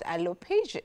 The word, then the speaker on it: alopecia: Well, we're going to talk about alopecia. Alopecia is the right pronunciation.